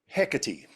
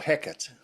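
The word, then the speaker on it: Hecate: questions about that okay hecy or heck depending on how you pronounce it from the Greek um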